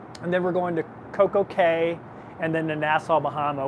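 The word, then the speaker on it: CocoCay: CoCo K so actually Coco K is Coco K the rest of them are key you know like princess key even though it's spelled c-a-y but Royal Caribbean is actually pronounced k um according to Royal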